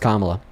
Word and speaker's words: Kamala: I'm just saying you're not going to bring that up ever again about somebody is pronounced Kamala.